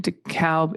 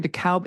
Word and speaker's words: DeKalb: The AL in DeKalb is pronounced like the name Al Gore.